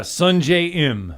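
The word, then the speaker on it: Sungjae Im: I mean, certainly, Sung J M. Did I say it right? Yeah, Sun J M.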